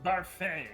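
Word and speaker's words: Barfée: cartoon voice of a child sounds like a barfey from uh 25th annual putman county spelling bee it's pronounced buffet there's an accent edgy you're not the boss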